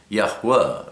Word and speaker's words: Yahweh: A lot of people like to say Vav instead of Wa, but the pronunciation of the V, or the letter V, came much later in time. Originally, it's the, or more ancient, is the W. We say Yahweh or Yahweh.